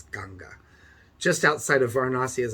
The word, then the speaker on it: Ganga: near the river ganga sometimes pronounced ganges but that actually means bald man so it's ganga just outside of varanasi